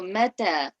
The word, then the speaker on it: متى: So for the ta, you have to lower your tongue towards the bottom part of your mouth. So mata, mim and ta are both light.